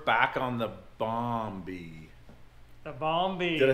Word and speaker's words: Bombi: which means we're back on the Bombi the balmy did I say it right yeah you got